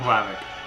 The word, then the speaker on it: Hlavac: I feel like the H is barely there. Yeah. Adam Hlavac.